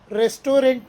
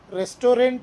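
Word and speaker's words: restaurant: ಆಫ್ ಸೋ V left ರೆಸ್ಟೋರೆಂಟ್ ನಲ್ಲಿದ್ದ ಉದ್ದನೆಯ ಸಾಲು ನಮಗೆ ಬೇಸರ ತರಿಸಿತು ಹಾಗಾಗಿ ನಾವು ಅಲ್ಲಿಂದ ಹೊರಟೆವು ಈ ರೆಸ್ಟೋರೆಂಟ್ ಕನ್ನಡದಲ್ಲಿ ರೆಸ್ಟೋರೆಂಟ್ ಪದವನ್ನು ಇಂಗ್ಲಿಷ್ನಲ್ಲಿ ರೆಸ್ಟ್ರೋ ಅಂತಾರೆ ರೆಸ್ಟೋರೆಂಟ್ ಅನ್ಬಹುದು ನೀವು ಬಟ್ ರೆಸ್ಟ್ರೋ ಅಂದ್ರೆ ಸರಿಯಾದ ಉಚ್ಚಾರಣೆ ಪುಟ್ ಆಫ್ ನ ಮೂರನೇ ಅರ್ಥ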